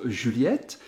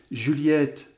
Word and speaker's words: Juliette: à la prononciation que le i de julie ou entend bien la